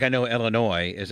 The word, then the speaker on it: Illinois: just like I know Illinois is Illinois it's French and the S is silent but I like saying